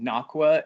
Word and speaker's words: Nocqua: you very much for having us um it's pronounced nachwa adventure gear and we came up with that